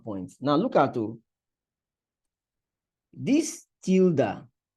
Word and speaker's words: tilde: Now look at this tilde, call it tiled. But most author call it tilde. They pronounce it like tilde, right?